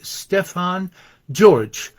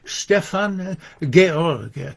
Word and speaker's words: Stefan George: uh this his the name of this poet uh written in English looks like Stefan George but it's pronounced Stefan Gorg he actually his baptismal name was uh George